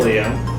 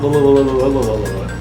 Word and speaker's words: Ililio: Ililio, not Lililio.